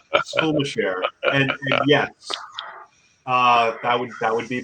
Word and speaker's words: Skulmasher: It's pronounced Skulmasher, and yes, that would be my father's side of the family.